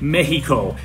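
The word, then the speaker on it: México: language say it right the X in Spanish does not make the X sound sort of a HS sound but not not really long sometimes I do it too much mehico it's that's a little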